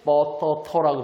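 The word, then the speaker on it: ปตท: PTT 이게 바로 태국인들은 뻐터터라고 발음하겠죠. 태국인들은 이렇게 발음합니다. 길게 하죠.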